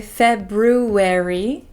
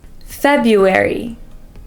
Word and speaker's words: February: you can see that there are two RS but we don't usually pronounce that first R we don't say February we say Fe feary feu February February is one of the